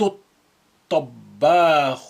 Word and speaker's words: الطباخ: يخلط الطباخ البيض. To is a sun letter, it's carrying the shadda, and lam is silent.